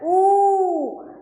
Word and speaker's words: ऊ: के बाद आता है बड़ा उ और इसका उच्चारण होता है ऊ तो अब हम कौन